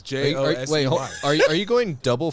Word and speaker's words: Josey: Like you're not saying Jose a funny way? No, it's Josey.